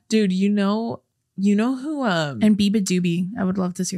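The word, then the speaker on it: beabadoobee: And that's how you pronounce it? Yeah, Biba Doobie.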